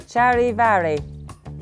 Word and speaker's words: Charivari: Charivari. But I feel like that's not the German way of pronouncing it.